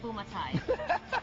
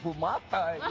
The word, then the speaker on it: Bumatai: It's Bumatai, you know. But it's interesting. It gets Hawaiianized. So exactly. But in Hawaii, they call me Bumatai. So there's so many ways to pronounce Bumatai.